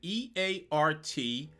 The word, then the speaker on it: EART: I went to them recently just to make sure I wasn't butchering the name and they claim that I should just pronounce it as letters. E A R T.